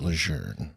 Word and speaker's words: Lejeune: That was so precisely pronounced, Lejeune.